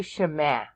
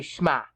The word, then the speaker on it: Shema: They don't say Shema today. They say Shema. So they've condensed 2 syllables into 1 syllable.